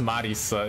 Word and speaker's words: Marisa: but they're in japanese in japanese it's pronounced marisa it's like do you